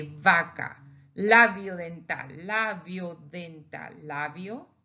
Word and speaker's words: vaca: Now here is not bilabial. Here is labial dental. Why? Because linguistically, there's a difference between the first one of the burro donkey and this one of a cow. We say vaca.